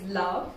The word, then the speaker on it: LVOE: quick read for me uh the book is love it's by Atticus that's how it looks it's